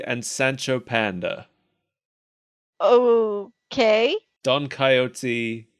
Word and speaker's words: Don Coyote: Sancho panda oh okay Don coyote like the animal coyote pronunciation yes I looked at